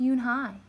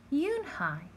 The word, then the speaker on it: Unhei: Yes, it's pronounced Unhei, and it means grace, Mr. Kim added. Unhei, Joey said slowly, and this time perfectly.